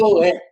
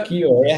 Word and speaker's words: ukiyo-e: Ukiyo-e, né? Ukiyo-e. Salvo engano, a pronúncia é assim.